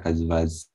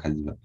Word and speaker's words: Kaziva: Mr. Kazvaz. The right pronunciation, Mr. Kaziva.